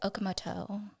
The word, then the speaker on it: Okamoto: Bri Okamoto.